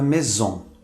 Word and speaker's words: maison: Quando o S está entre duas vogais, pronuncia-se como um Z. Observe a palavra heureuse, que significa feliz. Observe que esse S está entre duas vogais. A palavra maison, o S está entre duas vogais.